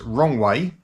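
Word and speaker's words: Roewe: Now they got the 75, they relaunched it in 2006 as the Rowe, or I've also heard this pronounced as Wrong Way.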